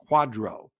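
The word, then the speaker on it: QDRO: issue something called a qualified Domestic Relations order pronounced Quadro so they will send that to the plan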